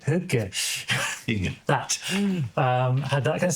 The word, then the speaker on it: Hygge: the old Lighthouse keeper had this whole like higgy? I don't know how to pronounce the style. Danish, Swedish, whatever it is for cozy. Hygge. Hygge.